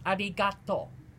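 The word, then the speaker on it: ありがとう: There are multiple variations, but the most basic one is arigato.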